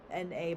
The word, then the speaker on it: Na: So Hwasa has come back with a new song called Na, N-A, but you say it like Na.